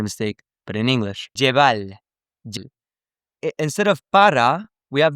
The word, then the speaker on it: llevar: And he pronounced the double L like a y sound. So he went, me la voy a llevar la toa pa un VIP.